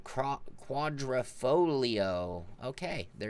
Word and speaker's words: Quadrifoglio: about project cars three don't pronounce the G in Quadrifoglio okay there you go